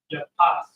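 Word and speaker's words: יפת: Japheth is how it's pronounced in the ancient Hebrew. Yapah.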